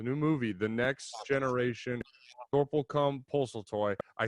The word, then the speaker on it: Sorplecum Poseltoy: writer of the new movie, The Next Generation, Sorplecum, Poseltoy.